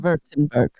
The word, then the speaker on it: Württemberg: Württemberg. Is that how you say it? It's The Köln. W's are V's.